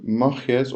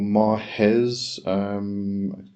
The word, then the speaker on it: Maahes: Alright, so Maahes or Mahes, depending on how you're going to pronounce it, Maahes is kind of a bit more like the Greek pronunciation, but this is actually